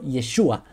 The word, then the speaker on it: Yeshua: es para resumirles pero el nombre común para el siglo I no era y es Joshua sino yeshua por eso es muy